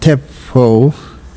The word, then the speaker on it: Tshepo: O for octopus so and the first name pronounced Teo yeso and the last name now spell your